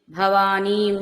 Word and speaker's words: భవానీం: అనుస్వరం, వాటి ముందు వచ్చే అనుస్వరం కూడా అదే అక్షరాల ఉచ్చారణ వస్తుంది. కాబట్టి అణిమాదిభిరావృతాం మయూఖైరహమిత్యేవ, మయూఖై ఒత్తు ఖ ఖడ్గములో ఖ, మయూఖైరహమిత్యేవ విభావయే భవానీం, భవానీం నీ దీర్ఘం వినపడాలన్నమాట.